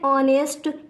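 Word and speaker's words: honest: थे इसी तरह और ऑनेस्ट इसको कई लोग बोलते हैं यहां पर जो हमारा हा है वो साइलेंट राहत है तो यहां पर हुए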